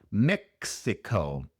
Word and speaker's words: Mexico: Pronunciamos la X como si fuera la X. en examen, por ejemplo, Mexico. Y la i se pronuncia con el sonido corto de la i en inglés. No es i, sino es Mexico, sino Mexico. Y y Mexico, Mexico. Y la o al final es una o larga y entonces sabemos que es un diptongo, como si fuera o u. Oh.